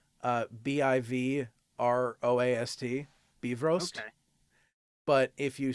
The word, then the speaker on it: Bifrost: well, so it's actually Bifrost. So as though it were Bivroast, Bifrost.